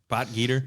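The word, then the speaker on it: Potgieter: The other young guy want to mention is uh Aldrich the poltergeist poter. Is that how you say his name? Poter. Boter.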